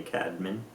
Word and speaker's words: Caedmon: The actual technical pronunciation of Cadman is actually Cadmin. Um Oh, I think maybe at one point. Yeah. Yeah. So, it's like the way I pronounce my name isn't the original pronunciation, I guess.